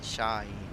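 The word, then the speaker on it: Şahin: Germans can pronounce my surname because there is a letter in German language. So how do you pronounce Sahin if it's not Sahin? Shahin. Shaheen.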